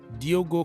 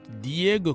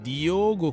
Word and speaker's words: Diogo: of the names here Diogo Costa this is not Diego Costa this is Diogo Costa who is the goalkeeper